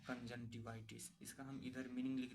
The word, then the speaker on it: conjunctivitis: Pronunciation को आप लोग देखना ध्यान से, CONJUNCTIVITIS, कंजंटिवाइटिस। कंजंटिवाइटिस का मतलब क्या होता है, आँख आना या फिर आँख में सूजन आना।